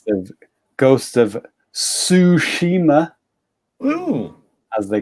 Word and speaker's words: Tsushima: learning japanese is um if you say the word like ends with ts like cats like say cats in your head and then say the word that helps with pronunciation so like cats tsushima it's like it's the end of cats but at the beginning of the word okay that's that's interesting